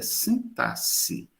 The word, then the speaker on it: sintaxe: sintas bem do grego a pronúncia e sintaxe esse X tem som de dois s sintaxe E olha como